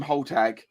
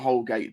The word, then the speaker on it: Holgate: tag um we yeah we call him whole tag not holgate because tana said his name wrong once so it's stuck